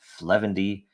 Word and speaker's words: 0xf0: dragon chain update show this is episode 0xf0 pronounced fendy this is the 241st